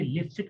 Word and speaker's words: Lipschitz: नाम है, हम रखेंगे, ओके, सबसे पहले पढ़ेंगे लिप्सिट कंडीशन।